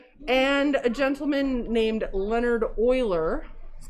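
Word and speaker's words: Euler: a gentleman named leonard oiler but it's not spelled like oil uh he made it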